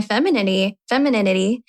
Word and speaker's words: femininity: And I'm really trying to celebrate my femininity. I love it. Did I even say it right? Femininity. It's like anemone.